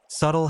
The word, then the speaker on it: subtle: Subtle has a silent B because of subtilus.